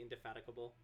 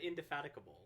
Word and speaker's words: indefatigable: did I say uh did I say indefatigable that's the correct pronunciation I think you said that but I think my brain heard a mispronunciation yeah cuz I said indf fatic yes one hour until